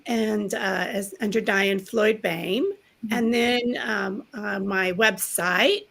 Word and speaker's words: Boehm: as under diane floyd bain and then um my website which is ticking across and uh diane floyd bain and it looks like bohemian we just pronounce it bain just to throw everybody